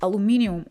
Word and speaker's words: aluminium: Another vital material is aluminium, or aluminum as it's pronounced in the United States and Canada. I'll stick with aluminium.